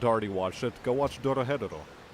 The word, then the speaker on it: Dorohedoro: If you haven't already watched it, go watch Dorohedoro. It's a bit of a mouthful, but we'll spell it out for you again. So that's D-O-R-O-H-O, or H-E-D-O-R-O. And again, Dorohedoro.